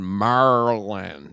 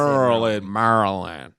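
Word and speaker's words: Maryland: tutman was born in Marland you know how they say it that's how they say Marland yeah which is a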